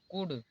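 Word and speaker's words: could: यहां पर लिखा है सी य एल डी कुड यहां पर इसे कुड पढ़ा जाएगा क्योंकि डी से पहले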